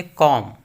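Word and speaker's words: comb: कि कॉम कि कॉम इसमें लास्ट में जब है वह साइलेंट है नहीं पड़ती है उसे कॉम कॉम का मतलब कंगी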